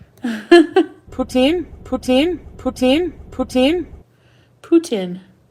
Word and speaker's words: poutine: poutine louise puts in english people pronounce it poutine it's puts in any french person will tell you that putin put in putin putin